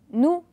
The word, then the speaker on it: nous: nous répétez après moi nous et faites très attention après le nous il y à un ace et le s ne se prononce pas d'accord on ne dit pas nous c'est faux jeudi nous répéter nous